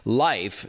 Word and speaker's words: Lyf: Joining us on the line to tell us more is Kate McDonald, Head of Operations and Product at Life, which is spelled, by the way, L-Y-F.